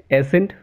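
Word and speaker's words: ascent: सी इज़ not pronounced in the combination of एस और एस एंड सी। देखिए कुछ example दे इसके, एसेंट, फैसिनेट, मसल, इन सारे वर्ड्स में एस और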